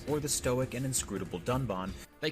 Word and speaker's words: Dunban: disagree with and then calls the character dunban Duncan this time however they did edit out the mistake but even in the re-edit he still pronounces the name wrong with the horrendous drop